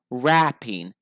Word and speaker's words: rapping: Okay, well, raping. Raping. So a long A. Raping. Rapping. Short A. Rapping.